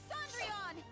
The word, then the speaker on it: Cendrillon: This time, I'm going all in with Cendrillon! That's actually the French pronunciation of Cinderella, too.